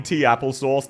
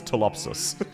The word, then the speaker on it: Topsis: Don't you mean Tapple Sauce? No. Her name is Topsis.